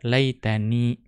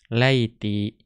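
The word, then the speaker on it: ليتني: Jadi membaca laitani, walaiti nadaro. Ya. Namun ada juga orang Arab yang membacanya tanpa nun wiqayah. Berarti membacanya laiti. Akan tetapi nadaro, ya itu jarang. Ya, yang lebih banyak adalah laitani.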